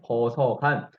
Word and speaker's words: 거서간: 거서간 여러분 이 간에 한번 주목해 보세요. 간은요. 우리 친기즈 칸 할 때 우리 칸이죠. 그거랑 같은 발음이라고 생각하면 되고요.